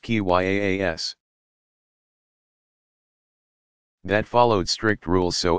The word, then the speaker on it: qiyas: of reasoning by analogy, qiyas, pronounced qyaas, that followed strict rules so as to keep the process as free of personal whim as possible.